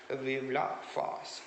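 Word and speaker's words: Vive la France: written in french okay vivla fast that is the way it is pronounced in the french language okay fast then he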